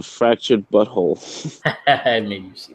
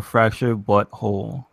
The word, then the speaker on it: The Fractured But Whole: the game Oh the fractured but whole do they actually do the actually pronouncing fractured but whole or fracture butthole they say it both ways oh really okay that's